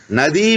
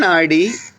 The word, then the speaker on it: Nadi: Nadi means a river. Nadi is the subtle energy channel. Nadi, Nadi. Nadi, they often use a re instead of the D in many pronunciations.